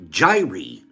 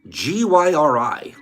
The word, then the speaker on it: gyri: is covered with ridges these ridges are called gyri g-y-r-i the ridges on our brain I wish I